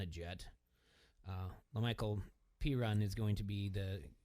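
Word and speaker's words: Perine: to pick up anything what's his last name p on p run but it's spelled p-e-r-i-n-e did you say peon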